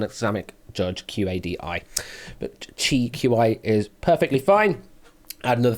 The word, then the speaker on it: Qi: Qi, QI. Absolutely, yes. I mean, I have the pronunciation guide here, but thank you for also confirming it.